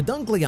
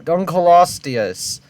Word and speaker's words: Dunkleosteus: about prehistoric times the dunkley audience what was that pronunciation bro Dunkleosteus that's not that hard to pronounce it correctly not long had its